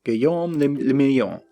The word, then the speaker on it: Guillaume le Million: Forever show you a city that meant only one thing, Guillaume le Million. If it doesn't rhyme, you're not pronouncing it right.